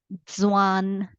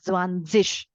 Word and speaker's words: zwanzig: Okay, when we have Z-I-G, okay, you can pronounce it as zig or zish. Both the ways it is fine. Southern Germany, it will be like zwanzig. Some part of Germany, they read it as zwanzig. But both the pronunciations are absolutely fine.